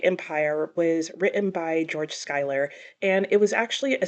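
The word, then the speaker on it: Schuyler: February and that was black Empire by George Skyler yes I also learned that his last name is pronounced Skyler which always confuses me cuz in English I feel like it should be schoer but it's not that's not the point anyway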